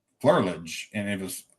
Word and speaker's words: Flerlage: We pronounce it Flerlage, but it's a German name, and it was originally pronounced Flerlage.